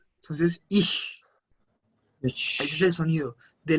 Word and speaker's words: ich: Cuando tenemos la C y la J, la C y la H, es como si tuviéramos una C y una J. Entonces suena J. Entonces, ich.